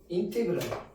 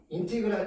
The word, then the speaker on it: 인테그랄: 그리고 표기법도 있습니다. 인티그랄. 이거 인테그랄이라고 읽어요. 잘된다. 인테그랄 fx dx를 누구라고 한다?